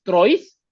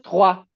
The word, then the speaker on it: trois: E s tres o i o i o i o im va a sonar como una ua. Entonces por eso el número tres no es trois, sino es tra, porque además la s final no se pronuncia.